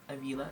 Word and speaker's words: Avila: Avila is how you say his last name.